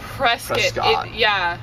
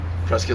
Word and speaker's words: Prescott: It's not Prescott. It's spelled Prescott, but Prescott like biscuit.